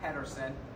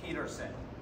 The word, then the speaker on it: Petersen: just and I've clarified it's not Patterson it's Peterson I've been saying it